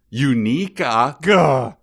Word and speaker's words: Unica: yet so far away with a certain pale-skinned unica daddy who re who resigned i i like that you pronounce it correctly but uh it's e uh